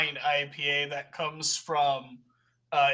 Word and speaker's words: IPA: one of your finest ipas please you see uh you hear it so you hear a voice saying um actually it pronounced IPA and turning around is